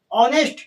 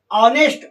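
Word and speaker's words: honest: ऑनेस्ट इसका उच्चारण हो रहा है। ऑनेस्ट औ से।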